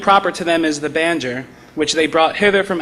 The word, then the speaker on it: banjo: among the slaves there was a bandor, or as they pronounce the word, banjo.